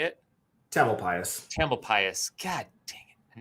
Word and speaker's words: Tamalpais: with this than I am, but this Mount Tamalpais, is that how you say it? Tamalpais.